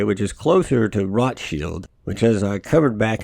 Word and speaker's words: Rothschild: typically settled in between the widely accepted English version pronunciation of Rothschild rather than the actual correct way, which is closer to Rotschild, which as I covered